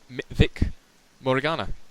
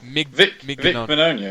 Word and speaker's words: Vic Mignogna: But he is voiced in English by Vic Morigana. I can't even pronounce his name.